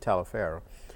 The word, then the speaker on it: Taliaferro: Some people said Toliver County but we pronounced it Taliaferro.